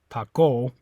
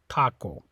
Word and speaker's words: taco: second last syllable okay so stress is on this a taco okay so we just know since there's no accent mark and it ends with the vowel we know that the stress is on the a taco okay so it's not on the oh you don't say pop goal you say taco okay now this one's